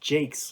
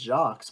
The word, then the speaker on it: Jacques: Yes, it's pronounced Jakes like that. I thought it was pronounced jocks myself, but when I